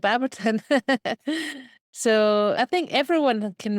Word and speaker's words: Baberton: I don't know if I'm pronouncing that right. Yeah, that's right. Baberton.